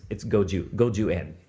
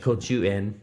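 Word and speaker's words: 五十円: And it's goju-en. That's the Japanese pronunciation. That's the correct. If somebody had said like kochu-en or gochu-en, right.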